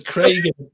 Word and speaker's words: Craig: We'll start the whole Greg and Craig bit, because Craig is Crag, and you get there's no AI sound.